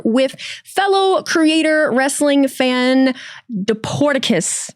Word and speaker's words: Dporticus: I am here with fellow creator, wrestling fan, Deporticus. Did I say it right? You absolutely did.